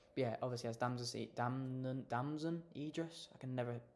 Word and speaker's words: Damson Idris: Yeah, obviously has dam Damon Damson Idris. I can never pronounce his name.